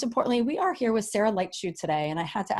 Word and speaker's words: Leitschuh: with but most importantly you're here with Sarah light shoot today and I had to ask her how to pronounce her name because it looks very difficult